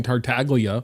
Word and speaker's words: Tartaglia: Everyone always Everyone always told me the G in in Tartaglia apparently is silent.